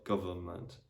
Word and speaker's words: government: So for example, in the word government, you don't pronounce the letter N.